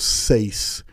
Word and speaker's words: Sais: Next thing Plato said is that Solon heard of Atlantis from the priests of Sais in Egypt. For those of you who want to spell that, it's S-A-I-S.